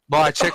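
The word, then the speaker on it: Mihocek: Yeah, and another one I'll talk about is Brody Mahocek. I think that's how you say it. Mahocek, thank you, Flood.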